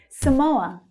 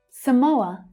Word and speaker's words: Samoa: Samoa. Samoa. That stressed syllable is the O as in go vowel sound.